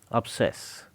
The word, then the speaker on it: obsess: Start pronouncing the word starting with a U.